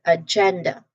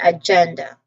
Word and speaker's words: agenda: So emphasize on the gen syllable and we get agenda. Again agenda.